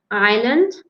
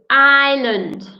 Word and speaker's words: island: see see lake nice the island again pronunciation Island Island cannot hear the S II desert another one